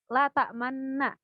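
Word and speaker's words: لَا تَأْمَنَّا: ada tulisan kecil ismam, berarti kita membacanya adalah dengan cara memoncongkan bacaan pada lafaz man. Berarti cara bacanya la ta'manna. La ta'manna. Jadi suara tidak berubah, melainkan cuma bibir aja yang berubah.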